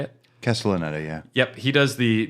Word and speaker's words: Castellaneta: Castellaneta, yeah.